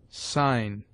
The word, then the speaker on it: sign: G is mute before N, as gnash, sign, foreign. G before I is hard,